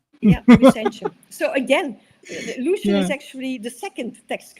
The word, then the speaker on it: Lucian: Lusian. Lucian. Lucian. Okay. Lusian. In the the second one is is a little bit difficult for me. Lucianic. Lucianic. Yeah. So again, Lucian is actually the second text critic if I